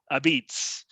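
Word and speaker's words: apizza: and they don't say a pizza they say abeets so i kind of look at this like tony soprano would call capicola gabagool so it's kind of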